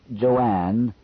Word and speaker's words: Joan: names do you think Joanne spelled j o a an but pronounced as two syllables would be a good